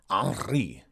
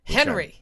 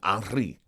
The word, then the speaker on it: Henri: No, it's Henri. It's French. You got your stupid dog. Yeah, she's got a sock. She's so cute. Yeah. Hey, Hazel. You pronounce it Henri because if you study French, you roll your R's.